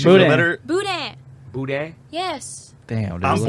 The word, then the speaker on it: boudin: literally told you just don't say the N. If it makes you feel Boudin. better, Boudin. Boudin.